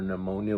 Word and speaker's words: pneumonia: quote unquote flu or pneumonia, whatever you want to call it. Ammonia is what's in bleach. Yeah. Ammonia is what's in bleach. Pneumonia is a whole different situation. It's spelled with a P, so let's just make